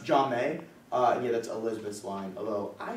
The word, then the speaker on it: Jamie: It's pronounced Jame.